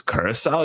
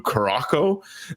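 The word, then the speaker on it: Curaçao: that the one country he couldn't pronounce was Curacao. You can't tell me this guy hasn't had a blue Curacao on a beach somewhere in Fort Lauderdale. And he calls it a blue Caraco.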